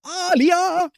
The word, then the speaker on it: Alia: And it's not Sky Tale, it's Skittle, and it's not Alia, it's Aliah.